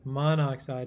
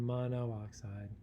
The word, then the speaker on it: monoxide: accept these answers but know that monoxide is better than mono oxide and pronunciation here is a good key if it's tough to pronounce it's probably not the correct way to do it though it is